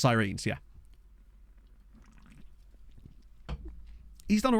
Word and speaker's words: Sirens: follow welcome aboard yeah the club's name is pronounced sirines yeah he's done all